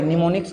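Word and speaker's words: mnemonics: रखना निमोनिक्स देखो भाई निमोनिक्स का स्पेलिंग एम से शुरू होता है ठीक है निमोनिक्स क्या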